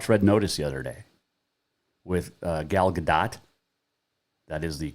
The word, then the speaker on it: Gal Gadot: i watched red notice the other day with gal gadot that is the correct pronunciation by the way um ryan reynolds the